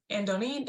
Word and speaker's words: Andony: love to help support and connect folks to Andony.